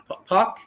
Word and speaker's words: Puk: Puck.